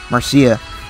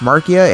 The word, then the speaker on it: Marcia: last chapter and then here we have uh marcia now i know a lot of people like to say that her name is pronounced marcia and i'd say you're stupid that's not how